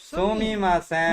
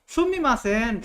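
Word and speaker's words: すみません: Excuse me Sumimasen. মানে তুমি শুনতেছো excuse me তুমি শুনতেছো সুমিমাসেন শোনো শোনো মা তুমি শোনো Excuse me.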